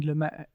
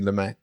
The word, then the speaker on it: Lumet: I wanted to touch on Sidney Lumet. Do you pronounce the T? I do, but We'll add the T there.